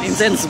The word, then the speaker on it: incense: Incense bacanya ya, bukan incest ya.